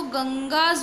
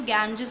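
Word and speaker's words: Ganges: इसको गंगास भी बोल सकते हैं, गंगेज भी बोल सकते हैं, लेकिन इसका करेक्ट प्रोनाउंसिएशन गैंजेस होता है. इंग्लिश में हम गैंजेस बोलते हैं, हिंदी में हम गंगा बोलते हैं.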